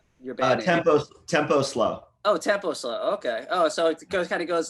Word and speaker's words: Tempoh Slow: and I'm dyslexic, so how do you actually pronounce the whatever slow? Your band Tempoh Slow. Oh, Tempoh Slow.